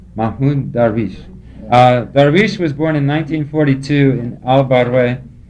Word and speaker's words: Mahmoud Darwish: How do you pronounce his name? It's Muhammad Darwish. Mahmoud Darwish. Mahmoud Darwish.